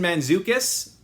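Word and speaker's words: Mantzoukas: Jason Manzukus, thank you Taskmaster for teaching me how to pronounce his name.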